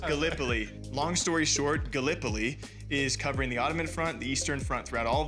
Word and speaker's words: Gallipoli: right because being from Iowa, I said uh Galipoli and it's it is pronounced Galipo. Long story short, Gallipoli is covering the Ottoman front, the Eastern Front throughout all of this.